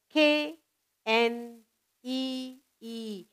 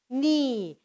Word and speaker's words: knee: K, N, E, E, knee. The K is silent.